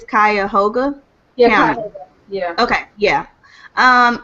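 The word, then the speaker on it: Cuyahoga: numbers for cleveland and i don't know how to pronounce this county but i think it's kaya hoga yeah yeah okay yeah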